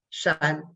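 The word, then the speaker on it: 山: uh shapes three styles of mountain which is pronounced as shine so this is the character and the on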